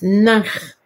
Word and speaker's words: ankh: It is, in ancient Egyptian, it is nakh. And nakh is equated to ankh. But the writing and the good pronunciation is nakh.